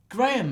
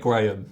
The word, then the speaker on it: Graham: you don't exactly expect Graham. No. I know that You don't expect Graham to miss. I know that they pronounce it completely differently in the States because it's like Graham, But Graham, can you imagine that?